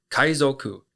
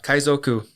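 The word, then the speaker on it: 海賊: And pirates are kaizoku. Kaizoku is spelled k a i z o ku.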